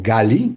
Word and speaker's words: Gali: Algunos nombres femeninos pueden ser analizados también bajo esta fórmula de inflexión como gali o gali, que así se pronuncia, que es mi eh ola, carni, mi rayo.